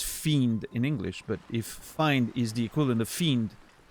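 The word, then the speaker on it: Feind: Find is enemy in Germany, like fiend, but in German it's the I and the E are reversed.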